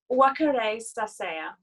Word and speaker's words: Wakaresaseya: You pronounce, usually, there are exceptions of course, but usually you pronounce each of the syllables equally with equal stresses.